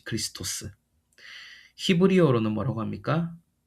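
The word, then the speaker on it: Χριστός: 원래 발음으로는 이제 크리스토스.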